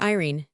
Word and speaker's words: Irene: My daughter Irene, said Mrs. Carstyle. She made it rhyme with terine.